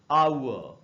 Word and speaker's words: hour: में वो साइलेंट होगा, ब्रिटिश इंग्लिश में एंड में आर हो तो साइलेंट होता है, इसलिए इसको पढ़ेंगे आउ, और ये रहा उसका